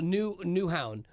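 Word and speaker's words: Nyhavn: Cool vibe it happened yeah it's called a new new Hound is how they pronounce that yeah that's how you say Newhouse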